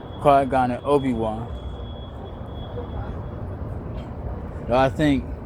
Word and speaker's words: Qui-Gon: But I remember now, Qui-Gon, his name is like Qigong, which is an exercise that we do right down the street, y'all.